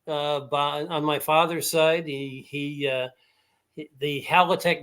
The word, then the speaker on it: Halatek: Halatekski? No, it's Halatek. That's exactly the way it came over across the pond. I believe it would be pronounced Hawatek. Yes, I was just going to say that. You took my thunder away, but God bless you for doing it, because as well as I do, the L is pronounced like a W in Poland.